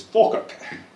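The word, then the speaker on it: Falkirk: I'm from a hometown my hometown's called Falerk F I R Kirk there is church. So German yeah but it's pronounced by the locals as Ferk. Drop the L.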